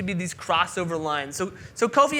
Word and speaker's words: Kofi: My name is Kofi, not pronounced coffee.